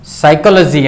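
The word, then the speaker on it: psychology: साइकोलॉजी, एमां P silent छे, silent एटले शांत रहे छे, एने बोलवानुं नहीं।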